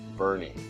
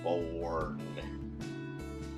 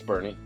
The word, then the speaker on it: Boerne: That's how you pronounce it, Boerne, even though it looks like it's Boerne. It's Boerne.